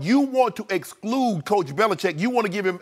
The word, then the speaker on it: Belichick: into his lap Bill Belichick chick its chick actually Jay chick it seems okay but that's the